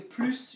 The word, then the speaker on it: plus: it for it yeah so if it's plus a quantity then you pronounce it if it's PL quality then you don't pronounce it and if it's PL